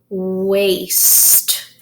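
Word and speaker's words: waist: cleaning the dishes okay a I what syllable type is that Lyons yes it is a vowel pair which means that a is long hmm and I will be silent waste waste now this waste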